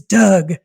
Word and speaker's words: Dug: Led by a guy we refer to in the book as Doug, but that's not his real name. Exactly. Okay. Yeah. I like that you chose the name Doug because it sounds like...